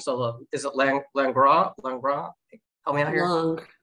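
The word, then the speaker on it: Langres: I love, and I'm gonna mess up the pronunciation. So is it Langras? Help me out here. Langras.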